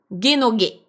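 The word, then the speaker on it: 下の下: Dans ce contexte là, très précisément, il va se prononcer G. Et donc c'est une expression, on peut le voir comme étant une expression hein, genogé.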